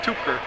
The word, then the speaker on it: Tipker: Tipker will take the ball out of play. I've heard it pronounced Tipker and Tupker. I can do it both ways, so I get it right.